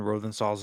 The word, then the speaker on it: Rosenthal: Can someone pronounce Ken Rosenthal's name, please?